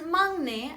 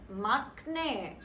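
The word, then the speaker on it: 막내: syllable which begins with no hence it is pronounced as mane and not maknae finally the last roll now just like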